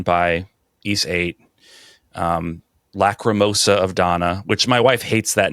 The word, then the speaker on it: Dana: Tears of Donna. Tears of Donna. I was like, well, it's spelled D A N A, so I always thought it was Dana until I played it.